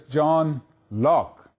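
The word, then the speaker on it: John Locke: as Lo or Loi the e at the end is silent so it's John Lock let us take a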